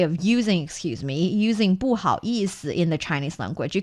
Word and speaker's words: 不好意思: We know there are 4 tones and 1 light tone in the Chinese language. This one is the light tone. So 意思,不好意思. 不好意思.